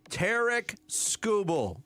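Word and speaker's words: Tarik Skubal: It's TK Scoo, not Tariq, not TK, not Scooball, not Scroo. Yeah, TK Scooble. Four syllables.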